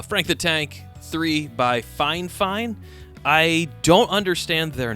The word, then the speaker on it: Fifine: uh just a thought um so yes it's pronounced fine fine and I think um I would recommend the